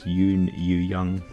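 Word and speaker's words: Youn Yuh-jung: actress from Minari, and I can't really pronounce her name because it's a Korean name, and I'm probably going to butcher it, but it's Yoon Yoo-young, I believe it is pronounced.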